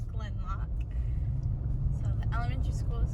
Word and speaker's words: Gleannloch: It's not pronounced Gleannloch, it is Glenloch.